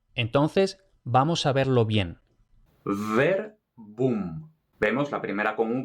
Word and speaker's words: verbum: Y luego vemos que la B se llama bilabial porque tocan los dos labios. Entonces, verbum, verbum. Por tanto, verbum, no verbum.